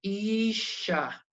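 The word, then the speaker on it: אִשָּׁה: Entonces, si yo voy a dividir en sílabas, es como si hubiera 2 shin. Voy a decir, como dice acá, isha, isha.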